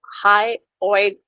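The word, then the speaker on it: hyoid: हायोइड bone, इसको हाईओइड bone बोलेंगे। ठीक है, अगेन इसका एच खा जाओ, हायोइड बोन में हाई कर दो उसे, क्योंकि ये हमारी लैंग्वेज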